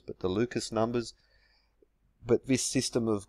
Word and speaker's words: Lucas: Fibonacci sometimes it's the Lucas numbers which I believe a properly pronounced luca numbers but the lucas numbers but this system